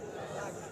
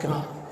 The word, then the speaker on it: ফ্লাস্ক: কি ফ্লাস্ক কি নিছে ফ্লাস্ক ফ্লাক্স ফ্লাক্স না কি শব্দ আমাদের প্রচলিত অনেক ভুল আছে এই একটা এগুলারে খুইজ্জা খুইজ্জা বাইর করি আমরা উচ্চারণে ভুল প্রচলিত ভুল প্রায় সবাই দেখবেন বলে ফ্লাক্স শব্দ কি ফ্লাস্ক কারেন্টে কি করে ধরে